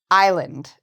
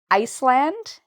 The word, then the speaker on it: island: This S is silent. You do not need to pronounce the S in island.